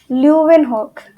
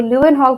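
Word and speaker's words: Leeuwenhoek: हम लोग, Antony von ल्यूवेनहॉक। काफी मुश्किल सी स्पेलिंग है, पर देखो इनके नाम में लिविंग दिख रहा है कि नहीं, living, ल्यूविन, living, ल्यूविन, living, है ना।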